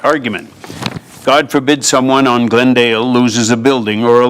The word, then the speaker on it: Glendale: Glendale has two syllables. Glendeli has three syllables. And the crescent do not sound alike, even if most of their letters are the same. Glendale.